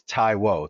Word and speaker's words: Taiwo: So, I always tell everybody it's it's Taiwo. So you think like a Tai and then Wo. So Tai Wo, that's my last name. Yeah, Taiwo.